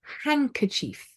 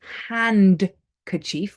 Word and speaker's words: handkerchief: one is silent D so D is not pronounced um in these words for example handkerchief we don't say hand kief we say handkerchief handkerchief